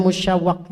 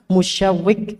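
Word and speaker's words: المشوق: Dulu ana pernah salah baca bacanya musyawwaq ya. Maka ini klarifikasi. Bacanya apa? Musyawwiq ya.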